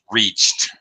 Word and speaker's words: reached: Reached. T pronunciation after the past tense, or actually, yes, past tense. Reached with the T sound. The ED, past tense ED ending is going to sound like a T after a CH sound